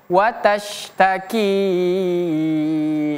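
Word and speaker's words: وَتَشْتَكِي: Jadi bacanya watash, watash, bukan watas tapi watash, watashtaki ilallah.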